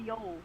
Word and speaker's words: viol: Yeah, it's just called a viol. So there's no or in. It's just I don't know. A viol. It's pronounced viol. It's similar to a viola.